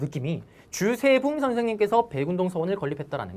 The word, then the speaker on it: 주세붕: 자, 그러면 이제 넘어갈 건데, 넘어가기 전에 제가 혹시나 발음을 똑바로 했나 싶어서, 백운동 서원이 우리나라 최초의 서원이잖아요. 이거를 만드신 분은 주세붕 선생님입니다. 제가 봉이라고 한 것 같아서 느낌이, 주세붕 선생님께서 백운동 서원을 건립했다라는 거.